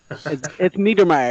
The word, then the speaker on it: Niedermeyer: Edie is it night or me tweeter Mayer meteor Mayer yeah so it rhymes with tweet tweet or Meyer is